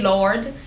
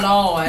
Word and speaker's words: Lord: It's not you don't say Lord. You say Lord. You got to drag it out because that mean you mean you feeling something, you know?